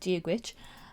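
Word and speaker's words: Dia duit: take this one here which is duwit which is when you read it that's it's not how you think it's going to sound but that is how you say Gitch and it basically means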